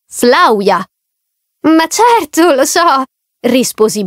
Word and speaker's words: Flavia: un corso di francese sai la V andrebbe pronunciata u che mi riferisco a Flavia andrebbe pronunciato Flavia ma certo lo so